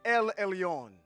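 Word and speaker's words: עליון: the time but you want to know how to say it in Hebrew it's Elon the most high I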